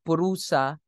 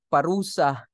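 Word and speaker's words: puruṣa: nothing higher than purusa please pronounce it as purusa because if you call it parusa in the Philippines that would mean punishment than the highest goal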